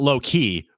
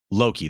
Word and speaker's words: Loki: Disney show Loki yes loow not low key but Loki that's the name of